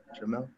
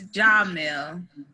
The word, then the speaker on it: Jamil: Okay, Jamel said, am I saying your name right, Jamel? No. Say it right for me. It's Jamil. Oh, my bad, I got you.